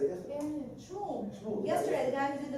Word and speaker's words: Schmuhl: First of all, Shmuel. I think that's what threw me off. SCHMUHL. Yes. That's one of the things. The second H is silent.